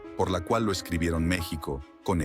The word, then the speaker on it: México: de la identidad así aunque el nombre se pronuncia con J se conservó la escritura con x en parte para mantener